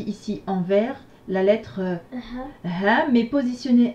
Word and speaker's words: ح: Alors, si vous voulez avoir une idée de prononciation, et ben quand on dit ha ha ha ha ha ha ha, d'accord, on serre un petit peu le fond de la gorge, et donc c'est totalement différent du ha, ha et ha.